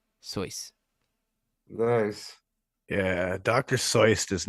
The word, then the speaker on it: Seuss: with your pronunciation because it actually rhymes with voice it is soyce nice yeah Dr Seuss